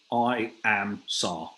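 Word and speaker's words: IAMSAR: to pronounce this and it is literally i am sar i am search and rescue is the pronunciation well nikki's dropped it's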